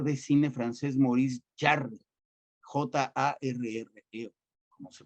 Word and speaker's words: Jarre: película, un compositor de cine francés, Maurice Jarre, Jarre, como se pronuncia, muy bueno, Maurice Jarre.